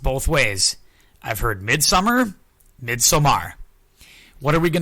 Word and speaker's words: Midsommar: to your perception yeah I'm gonna go mid-summer but don't don't be surprised if I drift into midsomar every once in a while I'm probably gonna go Midsummer because that's how I pronounce it in my brain because that's how it's spelled very fair it's it's